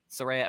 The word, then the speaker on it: Saraya: Saraya.